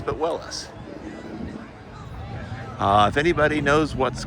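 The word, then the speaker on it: Willys: I'd always heard Willies until I learned that the uh person who started the company pronounced it Willis. Not Willies, but Willis.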